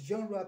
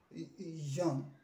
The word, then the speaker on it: genre: It is genre, please don't say genre or genre.